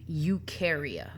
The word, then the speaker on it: Eukarya: falls under the domain Eukarya Eukarya are where all eukaryotes are found you rhymes with do so eukaryotic organisms do